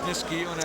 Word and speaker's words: Niskayuna: I hate to see my hometown name get butchered, but it is Niskayuna, and it's not New York City, Bruce.